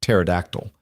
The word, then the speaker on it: pterodactyl: started correcting adults on their pronunciation of pterodactyl. "She told my boss that the P is silent, and he's been saying it wrong his whole life," Nathan said.